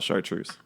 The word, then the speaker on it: chartreuse: knows how to spell chartreuse. Really? Chartreuse. Saying it again doesn't spell it for people. Okay. CHARTREUSE. The truth. Oh, I thought it was SHARTRE. We're not sharding anywhere. Chartreuse.